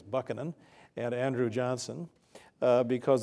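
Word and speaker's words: Buchanan: notoriously corrupt and James I believe the correct pronunciation actually is bucanan and Andrew Johnson uh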